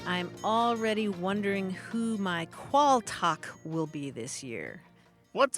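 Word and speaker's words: qualtagh: qu a a l t a g h qual talk or in some parts of Britain it's pronounced qual and it comes from mans it comes from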